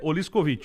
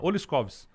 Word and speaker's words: Oliskovicz: Se pronuncia, a pronúncia correta é Oliskovich. Oliskovich. Mas eu fui criado pelo meu pai, avô e tal, a gente fala Oliskovs.